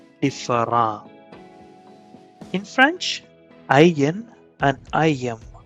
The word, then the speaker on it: différent: Words in English ending in ENT and ANT are pronounced as in French. So different would be différent.